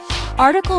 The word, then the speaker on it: article: It has three syllables. The stress is on the first syllable. Article means a piece of writing in a newspaper or magazine.